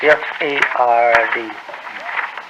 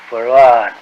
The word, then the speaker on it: Fard: Farad, F-A-R-D, F-A-R-D. Fard. Muhammad. Mr. Yes. Fard, did you say? Well, that would be the F-A-R-D? pronunciation in English, but we in the Arabic yes, it's Farad.